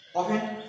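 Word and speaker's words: often: অফেন, নতুন একটা শব্দ তোমাদের, অফেন। উচ্চারণ অফেন, ও এফ টি এন, টিটা উচ্চারণ হবে না, এটা অফেন মানে প্রায়।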